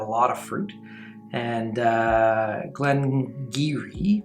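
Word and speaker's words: Glen Garioch: of fruit and uh glengiri which is spelled way different than it pronounced is from that region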